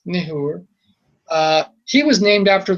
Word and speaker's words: Nahor: Neahor uh Abra Abram's brother Nehor people say it as Nahor, but it's Nehor.